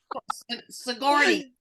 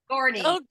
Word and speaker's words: Sigourney: Her last name is Weaver, and it starts with Sigourney. Sigourney.